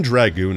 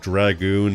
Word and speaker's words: Dragoon: Even Dragoon is a bit of a weird one if you think about it. Back in the day, people used to pronounce it with a soft A all the time. Thankfully, that's not really a thing anymore.